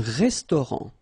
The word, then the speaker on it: restaurant: Un restaurant. Final T, not pronounced. Un restaurant.